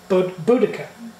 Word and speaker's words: Boudica: But if you go back to when it was used, it is Boudica. That is how you pronounce it.